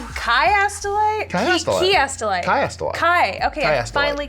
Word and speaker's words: chiastolite: Chiastolite.